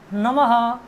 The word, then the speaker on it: नमः: क्योंकि ह का उच्चारण जो है कंठ विसर्ग का जो उच्चारण है वो ह के समान है, इसीलिए इनमें जहाँ भी विसर्ग जुड़ा है वहाँ ह के समान ध्वनि आएगी।